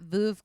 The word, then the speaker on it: Veuve: How do you pronounce it, Busy? Veuve Clicquot. Is it Veuve? Okay, so yeah, it's It is Veuve.